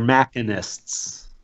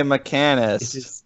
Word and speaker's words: machinist: It is machinist is how it's spelled, but that's ridiculous and stupid. I've always said mechanist, and until that very moment, I never realized that it was actually something else.